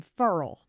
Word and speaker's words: Farrell: And like my bestie, her grandpa was Furl, but it was spelled like Farrell, but everybody called him Furl.